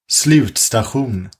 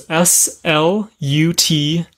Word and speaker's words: Slutstation: Slutstation. Oh. Whew. Which is spelled. We'll spell it out for you. So it's SLUTSTATION.